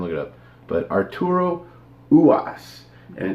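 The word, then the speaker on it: Ruas: I guess the R is silent, and they keep calling him Uwas.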